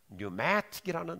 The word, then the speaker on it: pneumatic: 그래서 pneumatic이라는 단어가 영어는 이제 앞에 P를 묵음으로 하니까 pneumatic이라는 단어는 이 공기역학의